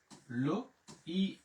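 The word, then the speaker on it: l'œil: এরপরে চোখ, এল ও, লো, ই এল এর উচ্চারণ হচ্ছে রস্যিকার, লই, লই।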